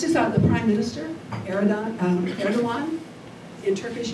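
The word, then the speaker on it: Erdoğan: out the Prime Minister aridon um erdoan in Turkish it's pronounced erdoan the G is pronounced like a w um he has he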